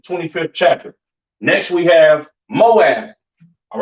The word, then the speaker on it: Moab: so on all right this is pronounced MAA all right Moab or MAA in Hebrew is your Chinese people